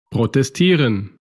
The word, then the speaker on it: protestieren: Y tenemos excepciones, los verbos acabados en yeren, que hay muchos de ellos, como vimos el verbo protestar, reciben el acento en la penúltima sílaba.